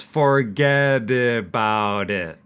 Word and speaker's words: forget about it: And once again, we want to use those flap T's. Forget about it becomes forget about it. And you can see that the T on the end of it, we don't pronounce.